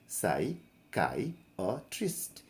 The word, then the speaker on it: psychiatrist: अब पढ़िए साइकाइट्रिस्ट, साइकाइट्रिस्ट, और काई पर जोर लगा दीजिए, है ना।